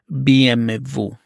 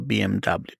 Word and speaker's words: BMW: BMW you'll notice that in Italian BMW is pronounced BM Vu instead of BMW if you say BMW in Italy no one